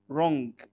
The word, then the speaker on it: wrong: I am sorry, wrong, wrong. ودايما قلنا W قبل R ما بننطقش W.